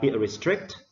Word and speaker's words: restrict: For the word restrict, we stress on the second syllable. So restrict, okay?